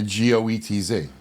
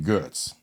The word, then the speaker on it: Goetz: When he came here, they switched it to G-O-E-T-Z. Yeah, and I guess they did that to make it easier, but whatever. Maybe because pronunciation-wise, but to me. They pronounce but they pronounce my last name Goetz.